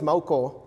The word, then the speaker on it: Maucó: like to do um my last name is mauko which is kind of hard to pronounce for almost every american that i know